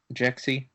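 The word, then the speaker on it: Jexi: first trailer we're going to talk about is Jaxy that's am I saying it right jexy yeah so exact Zach what's a little bit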